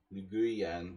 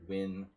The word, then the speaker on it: Nguyen: The guy was calling him like Nguyen, you know, it's not. It's like Win Viet something.